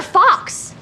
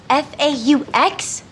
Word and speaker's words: faux: But you said they were fox. Yes, F-A-U-X. Fox? That's pronounced faux.